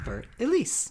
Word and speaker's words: Für Elise: The first most important thing to get used to about this song is how to pronounce the name Für Elise. Can you just say Für Elise? Für Elise.